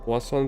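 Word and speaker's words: poisson: Пуассон это рыба, только О написано неправильно. Во французском они пишутся через ОИ. То есть пишется ОИ, а произносится как ОА.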